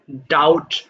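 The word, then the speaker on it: doubt: এটা ডাউট হবে না এই যে বি দেখছো না বি এর উচ্চারণটা আমরা করবো না তাহলে এটা হয়ে যাবে সিম্পলি ডাউট ডাউট মানে সন্দেহ করা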